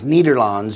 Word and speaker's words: Nederland: which is the Netherlands which is they pronounce nederlands you notice Holland nederlands